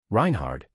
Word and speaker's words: Reinhard: Reinhard, it's one way to pronounce it.